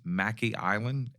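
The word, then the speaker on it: Mackay Island: comes from north carolina and i'm going to pronounce it as mackey island m-a-c-k-a-y but mackey island was his estate and he bought a couple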